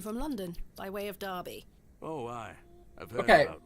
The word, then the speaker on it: Derby: Pace I okay so why is Derby spelled with an e and pronounced with an a and bu is